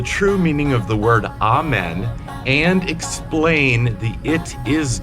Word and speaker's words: Amen: So Amen is how I pronounce it, because you have God, Brahma, Ra, Allah, all of these big spiritual entities seem to have the vowel ah attached to it because it's a very powerful vowel.